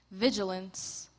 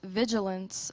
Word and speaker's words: vigilance: Vigilance. V-I-S-U-A-L-E-N-C-E. Incorrect. Contestant number 79, Wilson. Contestant, your word is vigilance. This word has 2 correct pronunciations. Vigilance, vigilance.